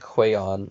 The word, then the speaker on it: Huion: There's one called I think it's pronounced like Huion or something like that, and I'll go ahead and link that one too.